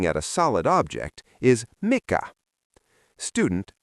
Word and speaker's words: mikä: The word for what when you are pointing at a solid object is mikah.